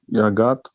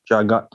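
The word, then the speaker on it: जगत्: Idam hi visvam Bhagavan Ivetaro Yato Yagat. Jagat. The J is J. Jagat.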